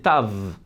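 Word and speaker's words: תו: La vraie prononciation en fait c'est Tav, avec un V à la fin.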